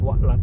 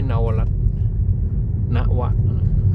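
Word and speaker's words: นวรัฐ: สะพาน นวรัต นะ ครับ อ่าน ว่า นวรัต นะ ครับ ไม่ ใช่ นวรัต นวะ พลตรี เจ้า แก้ว วระ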